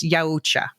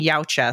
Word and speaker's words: Yautja: The pronunciation was according to the linguists, according to the guy who invented the language, the pronunciation is yaucha and that follows with how they pronounce it. But in the Dan Tractenberg, the director and in this film itself, they keep saying ya.